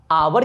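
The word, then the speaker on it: hour: यहाँ H silent है ना जी, आवर की हावर, आवर की हावर, आवर ना,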